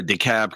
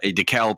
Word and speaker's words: DeKalb: also have a uh we also have a DeKalb County in in Illinois but we pronounce the L and the B it's I'm sure it's